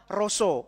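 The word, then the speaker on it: רשע: Dalam bahasa Ibraninya itu tulisannya sih ra dan sa, tapi bacanya roso.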